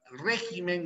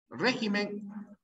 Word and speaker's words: régimen: La palabra, no entiendo tu pregunta, régimen, ¿no era régimen? Régimen, les dije, régimen es una palabra esdrújula, régimen.